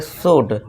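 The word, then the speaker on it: should: अगला रोल क्या है, जब किसी वर्ड में OULD दिख जाए तो आपको वहाँ पे उसका साउंड क्या देना है, क्या बोलना है, वुड बोलना है। जैसे कि एग्जांपल देखिए, सभी में OULD है, जी हाँ है, सभी में है, तो अब हम इसे क्या पढ़ेंगे, शुड।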